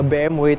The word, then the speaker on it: BMW: Jadi tiga merek itu sebenarnya cara pelafalannya, kalau BMW itu BMW, gimana huruf W-nya itu kayak ada sedikit V-nya gitu.